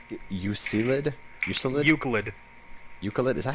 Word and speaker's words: Euclid: How the fuck do you pronounce Euclid?